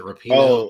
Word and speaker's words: Rapinoe: Is it Rapino? Oh, Megan Rapinoe. Yeah, Megan I Rapinoe.